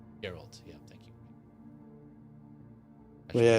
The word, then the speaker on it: Geralt: Gerald, how do you pronounce his name? Uh Geralt. Geralt.